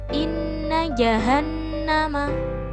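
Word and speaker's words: إِنَّ جَهَنَّمَ: Maka cara membacanya juga mendengung dua ketukan atau satu alif. Tsumma kallaa. Contoh yang ketiga yaitu innajahanama.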